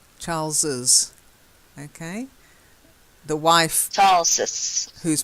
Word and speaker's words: Charles's: extra little E in there so you've got Charles's Charles's okay the wife's tarsus who's married to Charles